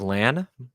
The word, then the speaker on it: Lan: solid solid good that he is lan uh not lawn um i know everyone was